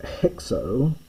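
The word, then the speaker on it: ἕξ: On the other hand we have the word hexo which you transliterated as with an h because of the hard breathing.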